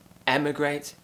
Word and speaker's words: emigrate: slightly and the other one is with an e sound lift your tongue up slightly not too high just around the sharp edge of your top teeth and immigrate immigrate so we have e emigrate immigrate when you leave your